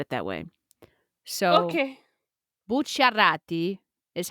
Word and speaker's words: Bucciarati: So in English, you can pronounce that last name as Buccarati, Okay. but you would sound like a huge manja cake if you said it that way. So Okay. Bucciarati is how I would Cool.